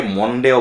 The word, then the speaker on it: Monday: ফেলি, হ্যাঁ এটা মানডে, তো উচ্চারণটা একটু স্মুথলি করতে হবে, মা ম দুইটার মাঝখানে করতে পারলে বেটার, যে মানডে। অনেকে মনডেও বলে, আমি দেখেছি অনেকে জাস্ট মানডে বলে, তো দুইটার মাঝামাঝি মানডে।